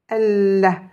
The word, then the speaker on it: Allah: Allah. Ce lem ici ne sera pas prononcé, mais je prononcerai avec la shidda l'autre lem. Allah.